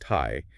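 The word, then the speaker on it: 胎: So in Chinese, the character for fetus, which is pronounced Thai, it's composed of two distinct visual parts.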